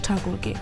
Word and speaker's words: ঠাকুর: Budget বক্তব্যের গোড়াতেই নির্মলা উদ্ধৃত করেছেন রবীন্দ্রনাথ ঠাকুরকে। টেগর নয়, ঠাকুর উচ্চারণ করে ছুঁতে চেয়েছেন বঙ্গের ভোটারদের।